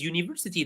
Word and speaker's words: university: He is a university because university though we have a vowel in the beginning but it's pronounced as a consonant.